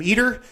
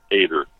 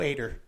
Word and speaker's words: Eder: announcers say your name eater and as I've heard announcers say your name is Ed er how do you say last name this pronouncing with an a ater ater see you do you